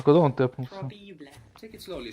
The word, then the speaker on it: probabile: Think of how it's written. How it's spelled P-R-O, no? B-A. Proba. Probabile. Probabile. Seems like an extra B.